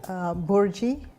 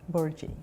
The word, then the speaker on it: Bhurji: Would you pronounce that again? Bhurji. Bhurji? Yeah, Bhurji.